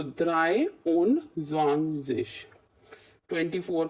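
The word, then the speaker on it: zwanzig: 20 को हम स्वांजिश बोलते हैं इसलिए।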